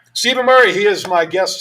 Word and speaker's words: Stephen: Stephen. Stephen, with that F sound. Okay. Yes. PH. There you go. For you. Like phone. Like As phone. opposed to acidic.